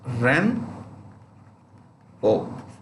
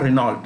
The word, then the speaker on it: Renault: look at this name renault how do you pronounce ren oh it's not renault what is it renault renault is a french